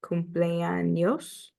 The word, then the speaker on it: cumpleaños: Okay, the Enye, when you're pronouncing the Enye, it is pronounced like an N and a Y together, like in the word canyon. So cumpleaños is cumpleaños.